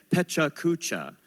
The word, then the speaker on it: PechaKucha: uh so now uh I've been saying it this way for years but then I met another organizer who pronounces it differently they say Peta cucha all right equal stress on each syllable like this so let's